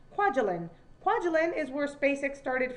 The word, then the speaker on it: Kwajalein: right here, and one, I actually know how to pronounce that because I've had friends that have lived in that island, Kwajalein.